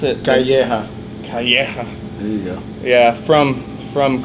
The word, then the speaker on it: Calleja: Is that how you pronounce it? Calleja. Calleja.